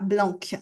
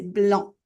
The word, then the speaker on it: blanc: Encore une fois he le noir, le blanc, le c ne se prononce pas, on prononce pas blanque, c'est blanc.